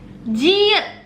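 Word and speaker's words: 지읒: Huruf ini jit itu dibaca c. Ini c bacanya guys, kayak c gitu ya.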